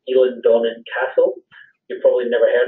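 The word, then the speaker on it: Eilean Donan: of Scotland to visit things such as, it's pronounced Elan Donnan Castle.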